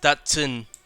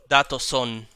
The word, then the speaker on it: Datsun: way it's spelled, like, I thought, oh, obviously it's Datsun. But no, it's Datoson. Or Datosan. Which is not what I would have expected. Hold on. It was pronounced like Watson.